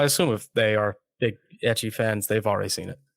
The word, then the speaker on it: ecchi: Well, I assume if they are big ecchi fans, they've already seen it. Oh, yeah, you're right. Is that how you say it, ecchi? That's how I say it. Oh, I've always said ichi, but like, I don't know.